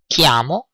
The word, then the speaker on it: chiamo: Chiamo, I call. So I call myself, and then you say your name. You have noticed that kiami or chiamo, which is written chi, is pronounced k.